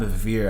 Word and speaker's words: Bevere: And something that we found a quote actually by John Bevere, I think is how you pronounce his name.